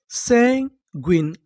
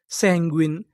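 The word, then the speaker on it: sanguine: अगर आपको इंग्लिश के किसी भी मीनिंग के आखिरी में इ लिखा मिले तो हम लोग इ का उच्चारण नहीं करते।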